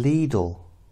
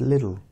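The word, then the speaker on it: Lidl: I got them from leadle no no one ever said that they said little little little cuz that's how it's spelled and that's how we pronounced it but little or leadle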